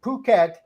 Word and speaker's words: Phuket: the resort island of Phuket to find out and it's not pronounced it p-h-u-k-e-d it's Phuket a red light district